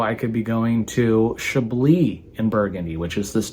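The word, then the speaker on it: Chablis: could be going to Shi in burgundy which is this Northern most part spelled like shablis right but it we don't pronounce the S so shab uh whatever you're into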